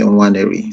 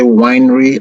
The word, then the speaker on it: Nwaneri: The first N is silent, so you say Nwaneri. So if you say winery, I'll get drunk because I think of the wineries. So just say Nwaneri, and that will be good.